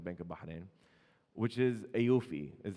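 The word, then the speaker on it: AAOIFI: by the central bank of Bahrain which is AUI is how it's pronounced but it stands for the accounting and auditing organization for Islamic financial institutions.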